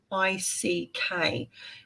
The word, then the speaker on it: Magick: And it's pronounced Magick.